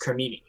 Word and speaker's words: cremini: mushroom men yeah oh god apparently it's not pronounced crimini it's pronounced cremini sure yeah that's yeah italian gemini man all